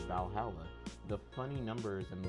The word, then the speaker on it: VA-11 Hall-A: like wrestling all right the name sounds silly and a bit hard to pronounce good thing it's actually called Valhalla the funny numbers and